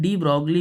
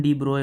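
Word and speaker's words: de Broglie: और इंपॉर्टेंट बात यह डी ब्रॉग के डी ब्रॉग ठीक है स्पेलिंग ब्रॉग लिखी जाती है प्रोनंसिएशन डी ब्रोए होता है ठीक किसी और जबान का है इस वजह से प्रोनंसिएशन में फर्क आता है तो डी ब्रॉग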